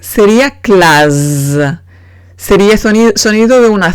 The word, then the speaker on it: classe: Ejemplo, classe. Classe. En classe tengo que doblar la S porque si pongo una sola S sería classe.